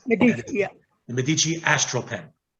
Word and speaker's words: Medici: That is the Visconti, Medici, or Medici, however you want to pronounce it. Medici, yeah.